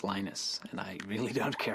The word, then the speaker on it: Linus: I speak Swedish it's heinous when I speak Finnish it's Lee knows when I speak English its Linus and I really don't